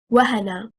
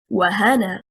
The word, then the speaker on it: وهن: The word wahana, stressing on the first haraka, harakatil waw, is one word, meaning to weaken. A past tense verb. If we stress on the second haraka, harakatil ha, and we say wahana, what will happen? The incorrect performance leads to separate the word into two, and it becomes a